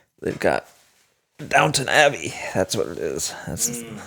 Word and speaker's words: Downton Abbey: There's no W. There's no downtown? That's not how it is? No, it's Downton. That's how I spell it.